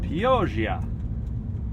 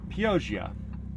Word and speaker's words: Pioggia: It's called POV. Sorry. I don't know why I tried to say it like I was Italian, because I'm not. POV.